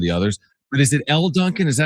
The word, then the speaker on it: Elle Duncan: But is it Elle Duncan?